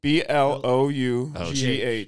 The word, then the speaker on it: Blau: BLAU, right? BLOUGH. Yep. Okay. BLOUGH. Just for reference, I had to contact his coach and make sure I had the pronunciation right, and it was so worth it.